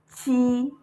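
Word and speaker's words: 七: How to say seven is chi. The same thing you say when you are saying Q when you are reading the Chinese alphabet.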